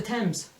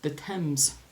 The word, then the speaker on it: Thames: Oh, that's the Thames. The Thames. The Thames is how we Americans might say it, but it's the Thames.